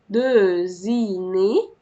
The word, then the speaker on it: dessinée: اون بوند دوزيني، دوزيني. الأو دي مش هتتنطق، قبل الأخيرة بنطق ايه، دوزيني.